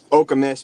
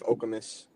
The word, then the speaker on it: Okemos: It's Chris, is it Okemos or Okemos? Okemos, but I feel like everybody says it different. Okay. I believe it's after a chief, Okemos.